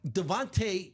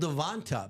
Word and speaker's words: DeVonta: Look, Devontae Smith, I still, because it's spelled Devonta, but he pronounces it Devontae.